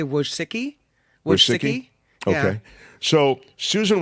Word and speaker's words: Wojcicki: It feels like Wojcicki. Wojcicki. Say it again. Yeah, I say Wojcicki.